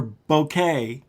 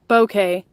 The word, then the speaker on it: bokeh: us what it's called how do you say is it bouquet bouquet what bouquet bouquet bouquet i can okay see bokeh bokeh bokeh is everything okay okay so it's okay with the b bokeh that's it oh my